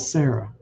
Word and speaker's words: Sarah: And because the H is silent, as seen with Sarah.